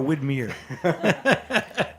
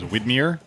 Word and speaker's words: Widmer: Jeff olor's book The Whitmer way is it Whitmer or whitmere in Portland everybody says whitmere and they're wrong it's Whitmer well it's it's weird